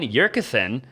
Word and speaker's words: Yurcisin: Austin Zabak here with another video, and I am with Yurcisin. Did I pronounce that right?